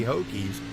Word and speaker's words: Hokies: I wasn't sure if that's how you say it, but it doesn't have 2 O's, that would be Hokies. So it has to be Hokies.